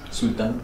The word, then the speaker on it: Xultán: Pero sí, Sultán con X, Sultán, como un sultán con sal.